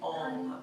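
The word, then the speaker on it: Ong: Om is similar to Om in other yogic traditions. In Kundalini Yoga we say Om, O-N-G.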